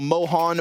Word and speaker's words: Mohan: It's like, you know, Mohan, Moses, the first syllables there. Yeah, don't call me Launders. Call me Mohan.